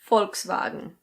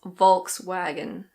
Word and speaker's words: Volkswagen: This is another German name and in German it's pronounced Volkswagen. Volkswagen. In British English I've heard a couple of different pronunciations, but I think the most common one is Volkswagen. Volkswagen. But some people do say Volkswagen. Volkswagen.